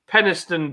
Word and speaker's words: Penistone: Yeah, but it is available from places like Penistone Beer Shop, which is spelled Penis Tony.